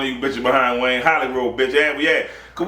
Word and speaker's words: Hollygrove: Skip, we in there, Hollygrove.